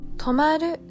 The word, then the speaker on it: 止まる: は 4 角です送り仮名の丸をつけて止まると読みます m english た丸